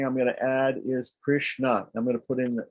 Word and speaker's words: Krishna: Now, if I want to make the next, so there's 2 syllables in Krishna, Kri and Shna.